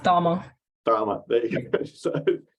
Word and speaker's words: Cama: Is it Cama? It's pronounced Dharma.